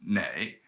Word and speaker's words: 那: what i'm saying um the northerners prefer that kind of pronunciation where southerners tend to stick with the more formal ju nah nah but they're both fine they're interchangeable um in